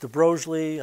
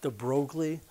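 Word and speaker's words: de Broglie: is called the de brogly wavelength sometimes it's pronounced de brely I'm told that it's actually pronounced de brogly it doesn't really matter we're going to be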